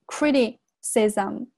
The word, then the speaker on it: criticism: 那接下来呢，我们来看一下本段所涉及的一些发音常识。首先呢是第一句话，the insults，注意下这个 the 发声变音，the insults，注意下这个单词哈，在做名词的时候，它前面重读 insults，变成这个动词的时候，它后面要重读 insults，然后这个地方连读 the insults，然后这个地方是。Insults, 然后 criticism, 注意一下这个单词 criticism, 注意一下 t, 我有两个元之间呢它有一个浊化 criticism, were not unexpected, 注意一下这个单词